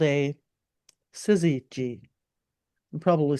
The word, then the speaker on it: syzygy: end of the horizon, and that's called a syzygy.